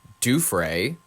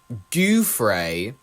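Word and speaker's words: Giuffre: straight ladies and gentlemen it is Virginia Duay often pronounced with a D. That's how I've heard it pronounced many times in in in 60 minutes. But if you pronounce it, Dryay, I guess if you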